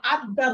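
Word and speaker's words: الدار: আল আসলে কি হবে আদার র জাতীয়, আলিফটা ডাইরেক্ট দালকে ধরবে কারণ দালটা ওর উড়তে শামসিয়ার অন্তর্ভুক্ত আদার র জাতীয়।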